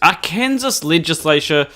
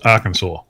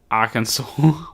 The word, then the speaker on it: Arkansas: let's get into uh this bit of news our kansas passes bill to allow emts and doctors to refuse to treat lgbtq people this is yeah it's pronounced arkansas arkansas yeah you don't remember bill clinton he was